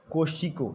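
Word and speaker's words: Kosciuszko: तो ये है माउंट कोशिको, लेकिन इसका जो स्पेलिंग है वो थोड़ा डिफरेंट है, KOSCUISKO।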